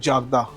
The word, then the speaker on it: jardin: जार्डन is basically French word, और French में इसको प्रोनाउंस करते हैं जागदा, विच मीन्स आउटडोर कोर्टयार्ड होते हैं वहाँ पर जो, तो उनको जार्डन जागदा बोलते हैं। और जो इंग्लिश प्रोनाउंस है उसकी वो जार्डन होती है।